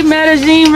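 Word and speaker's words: Medellín: Medellin ready? Am I pronouncing it right, Alanis? Oh, good.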